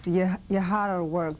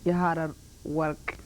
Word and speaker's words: Yeharerwerk: Yeah, it's Yeharerwerk. This is in Ethiopia, the way we pronounce it in my language. Yeharerwerk.